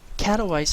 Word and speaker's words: Katowice: As we saw actually earlier today, an IEM Katowice, I believe is how it's pronounced, took place in Poland.